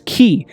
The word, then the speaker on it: chi: course ki is also the 22nd letter of the uh ancient Greek alphabet pronounced as as key and it literally means